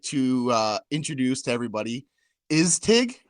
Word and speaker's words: ISTIG: So I'd officially like to introduce to everybody ISTIG, right? Am I saying it right? ISTIG, you got it All right this right.